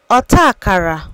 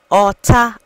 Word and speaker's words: Ọta Akara: word is a aara aakara means Nursery School learn how to say it by repeating after me aara aara a aara you won't